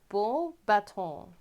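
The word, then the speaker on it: Beauxbatons: box baton books yeah it's pronounced like bull like bull baton gold button i harry's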